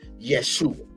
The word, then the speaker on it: Yeshua: call Jesus but we know him the right pronunciation or enunciation as Yeshua and when we study Yeshua right